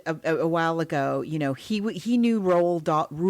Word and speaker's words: Roald: It's sort of, it's like Margot mentioned a while ago, he knew Roald, how do you say like it? RuPaul without the P.